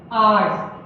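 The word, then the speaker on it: hour: अब अगर हम बात करें आर्स, आर, ये क्या है? शुरू तो हो रहा है एक्स से, लेकिन इसका उच्चारण क्या निकलेगा?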